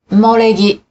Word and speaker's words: 埋もれ木: In ordinary conversation, when the Japanese syllable U comes before ma, me, or mo, it is often pronounced as if it were the syllable M. 馬、 Horse, 梅、 plum, 埋もれ木、 fossil wood.